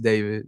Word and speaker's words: David: um pronounced David, not D4 VD.